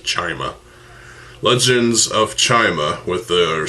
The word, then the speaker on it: Chima: 2013 we got Legends of Chima, or Chima, however you pronounce it. I pronounce this as Chima.